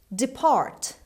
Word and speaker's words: depart: unearthed in greece goes depart depart it's a verb the stress is on the second syllable on p depart means go away